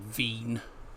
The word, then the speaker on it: Wien: speak German it's rapid vein because the W is pronounced as a V.